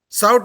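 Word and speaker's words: SAUT: We are not pronouncing S-A-U-T. No, we are saying SOUT, like SADC. And hence it is a acronym. SOUT is a acronym, not initialism.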